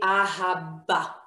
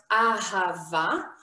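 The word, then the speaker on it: אהבה: And the reason is that we don't say ahaba. If this would have been pronounced as ahaba, we would have to put a dot inside the bet. But since the word is pronounced ahava, we are using, I'm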